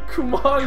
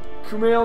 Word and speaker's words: Kumail: Kumon is not his name. Kumail? Kumal? Kumail Nanjiani. Kumail. Okay, Kumail. I'll just say Kumail.